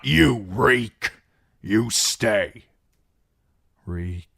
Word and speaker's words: Reek: Reek. Reek. It rhymes with peak.